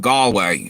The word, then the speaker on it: Galway: You spelled out, but you pronounce it Galway, I think, correct?